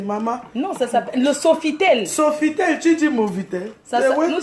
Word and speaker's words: Sofitel: Nous sommes au Nouveau-Tel. Hein. Hein? Qui a dit nouveau? Oh. Non, Nouveautel. C'est pas Nouveautel. Qu'est-ce que tu racontes? Pardon, il faut bien prononcer, maman. Non, ça s'appelle le Sofitel.